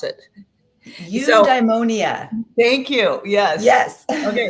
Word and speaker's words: eudaimonia: And it reminds me, there's a big word that I'm just learning, and I don't even know how to pronounce it. So Eudaimonia.